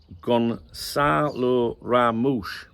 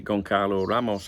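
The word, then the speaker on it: Gonçalo Ramos: Uh, Gonalo Ramoo. That's how it that's what I'm told it's pronounced. We want to pronounce it uh, you know, Gonalo Ramos or something like that. Right. Where is it? I would have pronounced it Gon Carlo Ramos, but apparently it's not.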